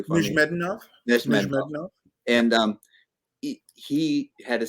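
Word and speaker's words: Nezhmetdinov: So do you think not only is it Nesmedov's, or say it correctly for me, Nizhmedinov?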